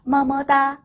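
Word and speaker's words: 么么哒: 알파벳 M이니까 무 발음 나고요. 알파벳 E가 붙었는데 알파벳 E가 혼자 있을 때는 으어 소리가 난다고 했어요. 그러면 ME는 무어 소리가 나겠죠. 뭐다 라고 발음하시면 되겠습니다. 뭐뭐다. 다시 한번 뭐뭐다 이렇게요.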